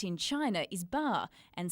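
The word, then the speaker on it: 八: The bittersweet memories of the 1984 Los Angeles Games came flooding back for the then Hockeyroos captain Robin Leggett, who still rides every play.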